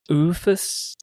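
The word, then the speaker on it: OOFOS: Oofus.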